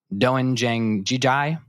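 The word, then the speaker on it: 된장찌개: I'm going to pronounce this wrong, so apologize for my lack of Korean knowledge. Doenjang jjigae, which is a stew made of soybean paste, tofu, zucchini, and scallions.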